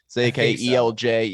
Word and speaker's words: Zakelj: Nick Zakelj, is that how you pronounce his last name? Zakelj.